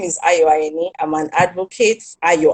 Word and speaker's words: Ayeni: myself my name is ioannie i'm an advocate are you ign i've been told to pronounce my name right yani i'm an advocate for